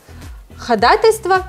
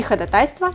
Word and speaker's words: ходатайство: хаос татьяна у дрэйка ходатайство не ходатайство тут двойного ударения нет и каучук не галочек